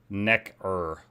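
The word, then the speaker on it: Nekker: Necker like neck.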